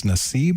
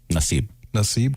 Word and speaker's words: Nassib: Nassib, is that how you pronounce his last name? Nassib, Carl Nassib.